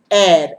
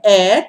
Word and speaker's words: heir: they call it hair it is air air to the throne uh